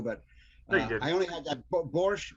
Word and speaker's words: borscht: other things too, but I only had that borscht. Borscht is how you pronounce it, Jeff.